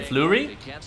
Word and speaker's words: Fleury: Marc-Andre, how do you pronounce that last name? Fleury.